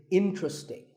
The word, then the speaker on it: interesting: are only three syllables in tree sting and the stress is on in so the word is interesting number 12 is hotel